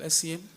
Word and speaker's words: Essien: My name is Essien. I'm sorry, your last name? Essien. First name is spelled.